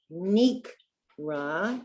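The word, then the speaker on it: נקרא: And then the one that rhymes with it is Nikra. That's a kuf.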